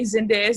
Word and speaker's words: Zendaya: is so random, but I always hate when people say Zendaya's name wrong. Like they'll say like Zendaya, and I'm like, no, like she's even broke it down for people. She's like Zenday, D-A-Y. Like, and there are 3 syllables in that name.